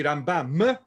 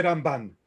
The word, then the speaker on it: Rambam: entre el Ramban y Rambam, porque las mujeres pronuncian la mem final como nun. Shalom, shalom. ¿No? Así que tanto Rambam se hace Ramban.